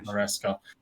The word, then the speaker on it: Maresca: I always get his name wrong. Maresca.